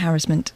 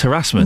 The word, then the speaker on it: harassment: But you are wrong about harassment. I'm not. It's harassment. No, it's not. What? If you're American. No, it's supposed to rhyme with embarrassment, where which is what you are.